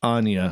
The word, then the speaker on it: Anya: I really appreciate that hi how are you Anya I print mispronounced your name earlier so it's Anya hi Anya I promise